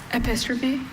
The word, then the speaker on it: epistrophe: Epistrophe.